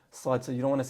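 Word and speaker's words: صاد: All right, this sound is unique to the Arabic language.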